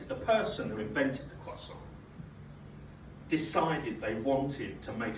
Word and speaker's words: croissant: and jam, which, ironically, makes her a cross-aunt. My sister's into me. Racist. And, eating a croissant, I'll say it correctly now, eating a croissant is like a trip down memory lane for me.